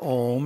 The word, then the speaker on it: om: and do it correctly we pronounce the a so that it vibrates the physical body the ooh has to vibrate through the throat area and the M the head in doing this we are